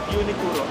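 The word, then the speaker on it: Uniqlo: Unique unicuro unicuro. Soan tuturuan niyo kay professor Leo ah. Unicuro parang ganon. Iba kasi yung accent nila eh. Okay. So Unicuro daw iyung tawang pronunciation ng unic law Unicuro Unicuro.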